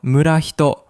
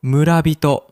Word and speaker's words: 村人: But notice the pronunciation. Instead of murahito, we say murabito. This happens because of a sound change in Japanese called rendaku, where the second consonant becomes voiced, so hi becomes bi.